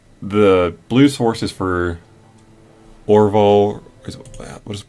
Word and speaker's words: Orvar: So the blue source is for Orval, what is it pronounced? Orvar, the All form.